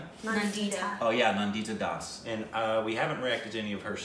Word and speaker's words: Nandita Das: And this was directed by Nada, would you pronounce that name? It's a female. Nandita Das. Oh yeah, Nandita Das.